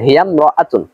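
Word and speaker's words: هي امرأة: কোনো শব্দ আসে তাহলে আলিফটি শুধুমাত্র লেখায় আসবে, উচ্চারণ আসবে না, যেমন হিয়াম রাআতুন।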